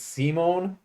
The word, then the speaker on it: Simon: don't know why but they're pronounced differently rather than Simon and Richter I believe it is Simone and rishta Rista yeah so there you